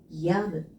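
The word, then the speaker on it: 止む: 그러면은 그칠 지자를 써서 야무 야무라고 읽어주시면 돼요.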